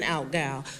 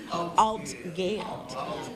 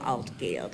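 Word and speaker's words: Altgeld: So when we again and I know I'm pronouncing that wrong. Somebody said I put too many emphasis on the L. But but I alt guild. There we go. Alt guild.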